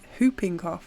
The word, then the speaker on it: whooping cough: oh whooping cough jeez hooping cough is how it's pronounced sorry just a bunch